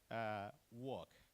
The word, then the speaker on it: walk: Walk, talk, chalk. Like Pak Marzul, Yeah, chalk. L is not pronounced.